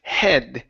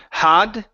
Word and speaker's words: head: Next one here is the word head instead of had. Okay, give me an eh sound, head.